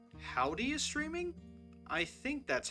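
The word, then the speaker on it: Houdee: I think it's pronounced Howdy. I really hope it's pronounced Howdy. It's H-O-U-D-E-E.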